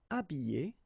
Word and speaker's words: habiller: Habiller, habiller, déshabiller, déshabiller. Okay, so you can see that here, this H here, this letter is not pronounced.